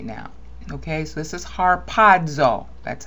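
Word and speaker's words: ἁρπάζω: Okay, so this is harpazo.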